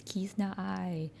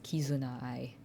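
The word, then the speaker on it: Kizuna AI: He's like, "What on earth is Kizna I?" I think I might also be saying her name wrong. It's Kizuna I. I hate saying all of those syllables.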